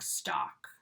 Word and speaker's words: stalk: Facebook stalk, or stalk in general. We don't pronounce the L there.